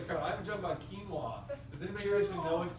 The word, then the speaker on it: quinoa: has no idea what quinoa is and of the people who do know what it is half of them think it's pronounced quoa and so the only